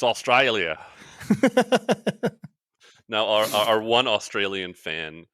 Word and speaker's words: Australia: It's Australia, which I pronounce correctly. It's not Australia. It's Australia.